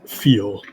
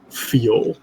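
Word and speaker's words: Fiil: to the one i go by now is feel you may call me feel uh how do you spell that good sir f i i l feel old ass blind dude i'm putting in my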